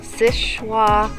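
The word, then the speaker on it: Seul Choix: we are at the Sishwa Historical Lighthouse. Sishwa. Spelled Sul Shoya. Yes. Yeah, it doesn't. It's not pronounced how it's spelled.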